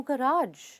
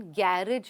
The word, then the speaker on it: गराज: इट हैज a beautiful balcony but there is नो गराज। Balcony तो है बहुत बड़ी सुंदर, लेकिन गराज नहीं है। इसका प्रोनाउंसिएशन गैरेज नहीं है, गराज है।